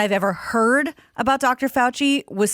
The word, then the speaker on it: Fauci: ever heard about dr fauci was someone who mispronounced his name which was at the very beginning of all this was dr drew called him dr fausti and so when i heard dr fauci i just assumed they